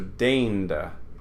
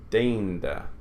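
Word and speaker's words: deinde: So what we say in English is ei, but they would say e, is rain. So deinda. This word is deinda.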